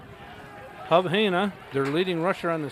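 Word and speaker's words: Hejna: That's spelled H-E-J-N-A, Hub Haina.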